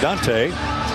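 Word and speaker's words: Donta: back court Dante Scott I guess that's pronounced spelled D N ta pronounced Dante he chopped the Y off some time ago apparently and Deshawn Harris Smith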